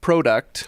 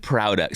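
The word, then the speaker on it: Prouduct: So Richie is the co-founder of Product. Yep. Is that how you pronounce it? Nope. Product? Product. So it's like Product, products you're proud of.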